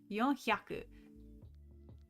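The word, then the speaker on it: 四百: Yonhyaku.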